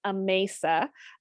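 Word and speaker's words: Amasa: here's an introduction a mesa and it is pronounced a mesa his wife refers to him as mace in letters from the time so that's how i remember it so it's a mesa campbell and he was married to grace campbell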